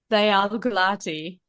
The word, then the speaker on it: Gulati: My full name is Gulati.